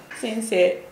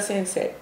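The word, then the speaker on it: 先生: 間違いですね、一つはアクセントが先生になる人が多い。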